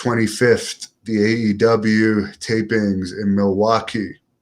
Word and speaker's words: Milwaukee: the aew tapings in milwaukee or miley waukee as they said in wayne's world is the proper way the indians used to pronounce it did 5 200